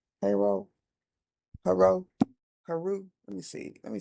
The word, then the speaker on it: Haro: Emmanuel Haro. Haro. H A R O I believe is how it's spelled. Haro. Haro. Haru.